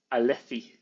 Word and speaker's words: Alethi: the la zeta, because in Spain they pronounce it like a th. So Alethi.